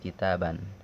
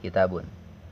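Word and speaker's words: كتابًا: Kalau 10 harus dia kembali ke mufrad kitaban, tapi penyebutannya harus kitaban, ya. Kitaban, nggak boleh kitabun, ya.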